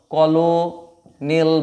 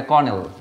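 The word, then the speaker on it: colonel: কলোনেল বলে। কিন্তু এটা কলোনিল নয়। এটা কর্নেল। ওকে? কর্নেল।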